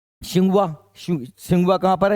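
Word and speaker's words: Tsinghua: हमारा यही है जो सिंघवा सिंघवा कहां पर है चीन में और दूसरा सिंघवा 30 साइलेंट है चीन अब मैंने कल ही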